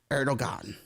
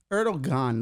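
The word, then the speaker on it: Erdoğan: critical to incumbent president erdogan and did I pronounce that right no Eran no kid it's like he's got ero and a thing over the G erog erdogan let's go with that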